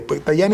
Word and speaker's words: Tajani: Me llamó la atención, embajador, que Antonio Tajani, se pronuncia Tajani, bueno, ministro de Asuntos Exteriores, dijo cuando se